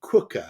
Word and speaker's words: Quooker: It's spelt Quooker, as in cooker with a QU.